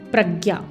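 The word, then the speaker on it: प्रज्ञा: samadhi is followed by pragya the word has two syllables pra which refers to thoroughly and gya which means to understand know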